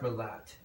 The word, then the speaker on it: Merlot: I think it's pronounced Merlot. a lot. Maybe I'm wrong. I could You ever be wrong. seen? Some people miss the that T at the end. There is a T there.